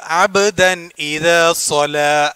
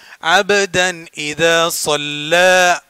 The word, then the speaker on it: عبدا إذا صلى: സല്ല ലാമിന് ശബ്ദമുണ്ട്, അതുകൊണ്ട് അബ്ദൻ ഇദ സല എന്നല്ല, അബ്ദൻ ഇദ സല്ല. ലാമിന് ശബ്ദമുണ്ട്, കട്ടി കൂട്ടി ഉച്ചരിക്കണം. ലാമിന് നീട്ട് ഫതഹാണ്, അതുകൊണ്ട് ഇവിടെ ഒരല്പം നീട്ടി ഉച്ചരിക്കുക.